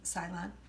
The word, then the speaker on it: Ceylon: One is from Ceylon, if that's how you say it. Ceylon? Ceylon, thank you.